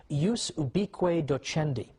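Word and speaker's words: ubique docendi: was something called in in latin and i'm using the church pronunciation ubiqui docendi which literally means the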